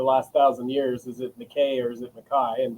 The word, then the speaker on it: McKay: and family is that in the Highlands it's pronounced Mai. Uh, a lot of people get it wrong with.